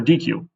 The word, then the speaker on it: deque: This is the same thing as our Q, Dec, or DQ. It looks like they're spelled the same way.